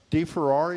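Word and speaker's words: Deferrari: Here at the library, the newest art installation, the central staircase of De Ferrari, is that how you say it?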